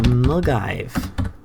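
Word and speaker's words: Milngavie: the 102 CL BL Bank to mive which is spelled so differently to how it's pronounced but post me if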